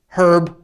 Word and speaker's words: herb: or some herb, or as the British say, herb, like rosemary or sage, that stuff's great as flavoring.